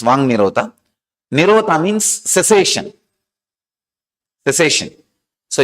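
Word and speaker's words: Vāk Nirodha: Vak Nirodha only, when you pronounce it, becomes Vang Nirodha.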